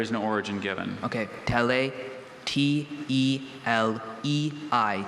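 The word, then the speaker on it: Telei: Tele. T-E-L-E-I. Tele.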